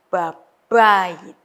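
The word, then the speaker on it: בבית: Ya, B-nya ini weak, yang kedua itu strong, jadi babayit.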